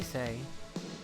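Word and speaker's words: Sei: news so what's your name sweetie call me say alright saying I'm say say yes yes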